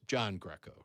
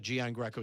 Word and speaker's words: Gian Greco: And by the way, we've been mispronouncing our name forever. It's John Greco, really. It's John Greco. Really? Yeah. It's not Gian Greco. It's not Greco.